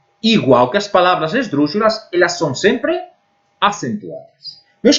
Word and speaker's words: esdrúxula: Vamos ver agora as palavras esdrúxulas. As palavras esdrúxulas têm a vocal tônica na antepenúltima sílaba e elas sofrem acentuação sempre.